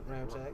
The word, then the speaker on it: Ramczyk: But Say his name, Ramczyk.